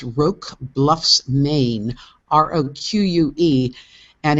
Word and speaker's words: Roque Bluffs: Yeah, I'm going to embarrass myself and say I don't know how to pronounce it, but I believe it's Roque Bluffs, Maine, Roque, and it's